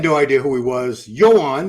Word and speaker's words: Joan: Yoan, that's how you pronounce it. I've confirmed this with several Spaniards.